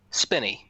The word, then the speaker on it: Spinney: just wanna start off by asking is it pronounced piney or spinny spinny it's very spinning okay thank you so yes